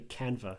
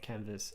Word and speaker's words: Canva: And we're back, and it's actually Canva, not Canvas.